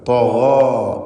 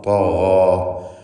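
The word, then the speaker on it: طغى: തഗാ, തഗാ എന്ന് പൂർണ്ണമായും തഫ്ഖീമോടുകൂടി ഉച്ചരിക്കുവാൻ ശ്രദ്ധിക്കുക.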